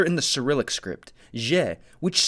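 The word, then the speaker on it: Җ: Well, the letter goes from being a zhe to a zhe. Listen to how the zh in its spelling sounds. It's almost like a d. Perfect, because that's exactly how it's notated phonetically. Zh.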